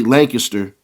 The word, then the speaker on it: Lancaster: Now in Texas, from how I heard, they say Lancaster. That's how they say it in Dallas from what I heard.